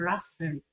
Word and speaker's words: raspberry: The sound P is silent in psychology and raspberry.